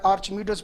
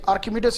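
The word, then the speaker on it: Archimedes: इसको इंग्लिश में आर्किमिडीज भी बोला जाता है, आर्चिमिडीज भी बोलते हैं मुख्तलिफ, लेकिन आर्किमिडीज इसका प्रोनाउंसिएशन सही है और उर्दू में इसको बोला जाता है आर्शिमीडस का असूल।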